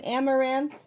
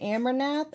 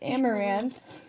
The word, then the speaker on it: Amouranth: You can pronounce my name Amaranth. I know it's people say Amaranath or Maranth Amar. It's Amaranth.